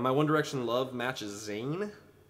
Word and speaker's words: Zayn: One Direction love matches Zan I think that's how you say his name zaye please One Direction or correct me if I'm wrong z a y n Zan I see that